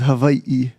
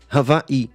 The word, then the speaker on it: Hawaii: VA e so so the w-a-i is Vai because it's and then